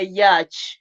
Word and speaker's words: yacht: In a yacht. See, it's called a yacht. Yacht. In a yacht. What is that? What is that? It's a yacht. They say the head is silent.